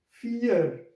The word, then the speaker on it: vier: Because we know that this alphabet is called V, and this combination E and A come together will produce a long E sound, so vier.